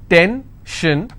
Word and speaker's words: tension: pension so how many syllables in tension 2 10 shin i will stress on 10 if i have pension